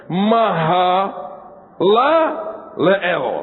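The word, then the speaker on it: Mahalaleel: Nah, ini r angel bacanya maha lael.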